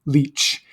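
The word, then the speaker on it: lic: And it is spelled L-I-C in Old English. We spell it this way to honor our herb-wise ancestors, but it is pronounced leech, like L-E-E-C-H. It is not connected to the blood-sucking leech. It's just they have the same word, the same sound.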